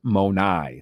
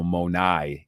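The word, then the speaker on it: μοναί: used there in John 14 2 you would pronounce it monai that's plural all right so monai is how you would say it you know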